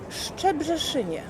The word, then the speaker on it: Szczebrzeszynie: W Szczebrzeszynie szczyzy szczebrzeszynie.